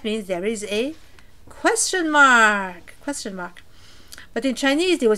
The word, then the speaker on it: 吗: So we pronounce this ma, like this. It's not the ma, down and up. It is a little staccato, little sudden, little light sound like ma, like this, ma, as if you're cut in two, right?